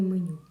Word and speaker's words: меню: поставимо наголос в слові меню меню наголос падає на другий склад на літеру ю далі м позначають твердий